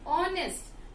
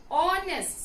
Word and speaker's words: honest: the vowel sound here, I do not pronounce H alphabet, rather I say honest. I do not say honest, okay? I say it as honest.